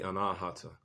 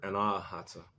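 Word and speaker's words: अनाहत: When you hear the word anahata, anahata, anahata, when you kind of sort of slow it down, the way you say it properly in Sanskrit, because that's how you properly say that word in Sanskrit.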